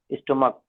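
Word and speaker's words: stomach: बट in case of स्टमच, ठीक, pronounce as स्टमक, ठीक, monarch pronounced as monarch, only S is needed at द एंड ऑफ इन to make them plural.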